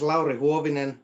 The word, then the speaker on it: Lauri Huovinen: name is pronounced correctly, and I'm sure I've butchered it. yeah, my name is Lauri Huovinen, and I play bass and sing in Bad Baron.